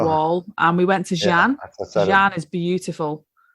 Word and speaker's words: Xi'an: I went to the Great Wall, and we went to Xi'an. Xi'an is beautiful. Xian. I don't know. Xian. Oh, Xian. Xian, yeah. X is spelled as a SH.